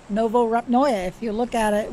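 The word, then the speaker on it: Novorepnoye: Novo Rabnoye. That's how it's pronounced. Novo Rabnoye.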